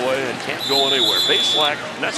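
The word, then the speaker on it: Bazelak: Base lack. That's how he likes it pronounced. He said they mispronounced him for for years in college. Adding an extra syllable.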